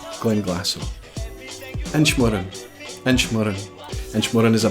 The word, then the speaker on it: Glenglassaugh: But the easiest way to pronounce this distillery is just to drop that GH at the end and just simply say Glenglassaugh. Glenglassaugh.